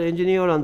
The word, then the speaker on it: engineer: 여기에 일단 engineer란 단어는 강세가 뒤쪽에 있다는 거. 여기에 이, 그러니까 삼음절, 여기에 이음절, 이음절, 삼음절인데 마지막 세 번째 삼음절에 강세가 있다는 거 주의해 주시기 바랍니다. engineer 이런 식으로 발음한다는 거.